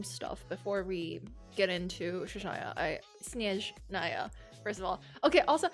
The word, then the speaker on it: Snezhnaya: And then they were like, it's actually not SNEZHNAYA. That is another way to pronounce it, but it's in a different language. In the actual like Russian way to pronounce it, it would be SNEZHNAYA or something.